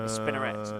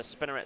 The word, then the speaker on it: Spinneret: A Spinneret.